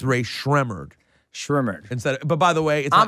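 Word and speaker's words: Rae Sremmurd: Drake, Meek Mill, Ray Shmurda. Ray Shmurda. Do you know it's pronounced Ray? Has anyone told you since then it's Ray Shremmerd?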